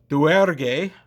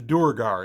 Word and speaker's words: duergar: So now we're talking about the Duergar, or the Duergar, as we pronounce them phonetically.